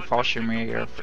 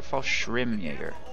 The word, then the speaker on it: Fallschirmjäger: Also, for those of you complaining about calling Fallschirmjäger in from off... Is it Fallschirmjäger or Fallschirmjäger? Schirmjäger. I've pronounced that wrong for my entire life, apparently.